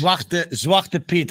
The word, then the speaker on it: Zwarte Piet: Zwarte Piet.